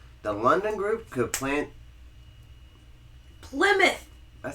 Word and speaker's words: Plymouth: the playmouth colony pouth Plymouth Plymouth Plymouth Plymouth play mouth I know it's spelled like ply and mouth but it's pronounced Plymouth Plymouth because English is